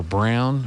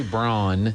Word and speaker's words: Braun: so so they don't they don't say brawn they don't play that game no not in germany there so um so they it's still spelled the same way but they but they say brown brown okay well i guess